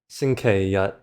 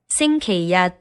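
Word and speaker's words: 星期日: Anyways, go ahead and try to pronounce these two as well. So, on the left, we have xīngqīrì versus on the right xīngqīyī And again, with the Google voice we have Sunday. xīngqīrì versus Monday.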